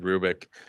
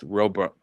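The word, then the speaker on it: Roobroeck: Sorry, I pronounced I said Rubik. It's Robuk.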